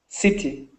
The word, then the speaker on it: city: City. City. Good. City. I city. City. City. So, first off, the I and also what you said was perfect. Make sure you get that last si syllable.